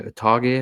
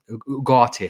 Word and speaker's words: Ugarte: Utage, as I pronounce it? Ugarte, sorry.